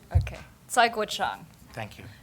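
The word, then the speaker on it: Cai Guo-Qiang: I have no shame um how do you pronounce Kai Gan okay saang thank you it's tough It's a tough name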